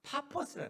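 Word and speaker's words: Paphos: 근데 이것을 이제 영어로 하면 파퍼스라. 파퍼스. 근데 우리가 이제 번역 발음하기 좋게 바보라고 이렇게 부르는 건데 원래 원명은 파퍼스에 그곳에 갔어요.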